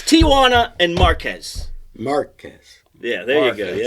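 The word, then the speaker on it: Márquez: Marquez. Yes. Marquez. No, I know it's almost impossible to not say it. It's like Tijuana. Marquez. Come on. It's Tijuana and Marquez.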